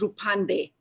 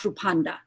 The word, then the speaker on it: Rupande: volunteering position also senator my name is rupande not rupanda okay senator would you